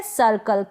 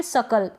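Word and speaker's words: circle: यहाँ पर ये है सर्कल। क्या है, सर्कल या फिर सकल, इस तरीके से दोनों ही प्रोनाउंसिएशन इसके होते हैं। आप दोनों तरीके से, कोई भी जो तरीका बोलने का आपको सही लगे, सकल बोले या सर्कल बोले, दोनों ही ठीक है। दोनों तरीके से आप इसको प्रोनाउंस कर सकते हैं।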